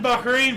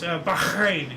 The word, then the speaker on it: Bahrain: 71, Bahrain proclaimed independence after 110 years of British rule. Awesome. Actually, I mispronounced their name. It's Bahrain. You got to get phlegm in there.